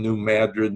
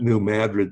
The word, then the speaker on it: New Madrid: Missouri I know about New Madrid that's where the earthquake was but when everybody sees it they think it's Madrid but David North in Missouri we don't know how to pronounce the English language so anyway it's just